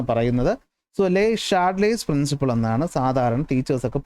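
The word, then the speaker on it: Le Chatelier: നിയമമാണ് ലേ ഷാഡലേ പ്രിൻസിപ്പിൾ ഇതിന chart layer എന്നൊന്നും പറയത്തില്ല ഈസിഎച്എ ഷ എന്നൊരു ഉച്ചാരണമാണ് കൊടുക്കുന്നത് എന്നാണ് പറയുന്നത് ലേ ഷാഡലേസ് പ്രിൻസിപ്പിൾ എന്നാണ് സാധാരണ ടീച്ചേഴ്സ്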